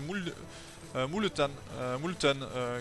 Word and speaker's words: Multan: D'ailleurs, on m'avait dit pour la prononciation, moi je disais Multan, mais c'est Multan que ça se prononce.